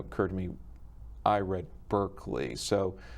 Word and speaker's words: Berkeley: to note is that the English are very peculiar in their pronunciation of words and so when issues of the name have occurred to me I read Berkeley so it's pronounced Berkeley first yes okay so